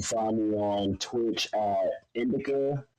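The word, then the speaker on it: INDIlCA: You can find me on Twitch at Indica. The L is silent.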